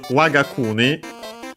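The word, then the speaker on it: 我が国: but yeah, so this Wagauni uh the accent luckily stays the one of waga waga accent on the W.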